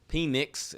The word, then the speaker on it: Penix: Penix, that's how you say his name.